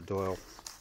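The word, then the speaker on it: Dáil: In the Sunday Times, TD's call for VAT dodging Wallace to quit the Doyle. If you're from outside of Ireland, that's pronounced Doyle.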